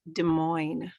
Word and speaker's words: Des Moines: from my city to introduce my city pronounced Des Moines it's kind of a regional a regional discussion that I thank you